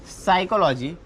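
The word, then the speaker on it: psychology: शिट्टी याच्यामध्ये टी हा सायलेंट आहे नंतर आहे सायकॉलॉजी सायकॉलॉजी म्हणजे मानसशास्त्र सायकॉलॉजीचा पी हा सायलेंट आहे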